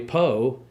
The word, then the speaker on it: Poe: The important thing about Edgar Allan Poe that everyone should know is that Edgar Allan Poe rhymes with Moe, which is the amount of money that we need.